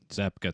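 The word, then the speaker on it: Zabka: how do you say his last name zapa zapka thank you um film watching and so I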